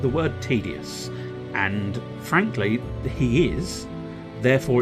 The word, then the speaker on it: Tidus: malice caliber despite the fact that it's actually pronounced tedious according to Square Enix I pronounce it Titus for reasons that you know tied because he's